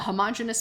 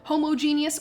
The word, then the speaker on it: homogeneous: a heterogeneous mixture right so a homogeneous or homogeneous all depending on how you pronounce it both are totally accurate i hear it both ways all the time so i tend to fall onto like homogenous just because i think of like homogenized milk a homogeneous mixture is